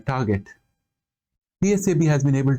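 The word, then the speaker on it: TRGT: this point of time the tool has been called trtt in short uh or pronounced as uh Target the Sab has been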